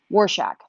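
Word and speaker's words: Rorschach: I know, but I need a phonetical pronunciation right now, is what I need. Warshak, thank you.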